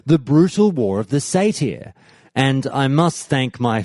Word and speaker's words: satyr: Countdown to Classic that I used to say satyr, but it's actually pronounced satyr, I believe.